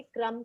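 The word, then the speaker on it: crumb: यहाँ पे हम कम की तरह ही क्रम को बोलेंगे, ब को ज्यादा प्रोनाउंस नहीं करेंगे. सो इट is rhyming word for come.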